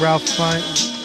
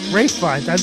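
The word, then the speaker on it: Ralph Fiennes: Coleman Domingo for Sing Sing, Ralph Fine. Is it just Ralph? Okay. It's not Rafe? Rafe Fiennes. That's still how I pronounce it.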